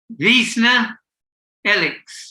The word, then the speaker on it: Wiesner-Ellix: And how do you pronounce the second name? Wiesner or Wiesner? With great difficulty. Wiesner-Ellix.